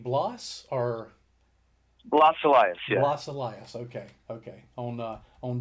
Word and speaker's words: Blas Elias: Blas Elias, yeah.